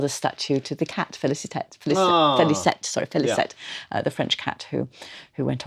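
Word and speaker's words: Félicette: Oh well, I've been saying the name wrong. I've been calling it Felicite, but that's. I think it's Felicet. Yes, it was. Felicet.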